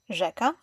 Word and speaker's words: rzeka: Digraphs are two letters combined into one sound. We have ż, like rzeka.